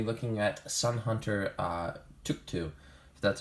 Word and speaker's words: Tuktu: we're gonna be looking at a son hunter took two that's how you pronounce it I actually recently saw a decklist